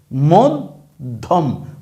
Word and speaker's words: মধ্যম: যেমন এই যে শব্দটা আমরা কি উচ্চারণ করলাম? মধ্যম মধম। ধইবার উচ্চারণ হইতেছে। মদ আবার ধম। মদধম। মধম। তাইলে দ এর উচ্চারণ কেমন হইছে? দত্ত হইছে। এখানে কিন্তু উচ্চারণ এ বা এ এরকম কিছু হয় নাই। কি হইছে? দত্ত হইছে।